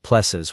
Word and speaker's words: PLSS: Your plss, the technician said, pronouncing it like plexes with the kind of enthusiasm usually reserved for root canal procedures.